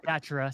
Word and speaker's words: Datura: Datura, sorry. That's what I meant. That's the proper way to pronounce it, listeners.